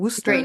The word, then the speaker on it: Worcester: Great Worcester, name. dude, and Worcestershire. it literally looks like Worcestershire. Worcester.